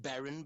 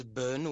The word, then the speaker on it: Bern: My name actually gets pronounced Baron, but I know people always say Bern when they when they read it.